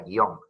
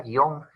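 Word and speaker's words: guion: dicen es profesor pero la palabra guión es que usted dice que no se tira porque es un monosílabo pero yo lo pronunció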